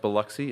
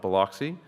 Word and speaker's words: Biloxi: which I learned by attending the event is pronounced Biloxi and not Biloxi, with the Midwest and Northeast meetings coming later this year.